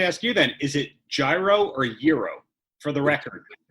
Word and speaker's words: gyro: What it looks like is gyro, but it's like the G isn't pronounced with the J. It's like more like an H, gyro, right. Or right. E or an H, gyro.